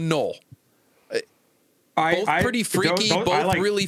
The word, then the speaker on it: Noel: from Washington State and Jaylen Noel or Jaylen Null, not quite sure on the pronunciation there quite yet. Uh from Iowa State. The latter. The latter. So Jaylen Null.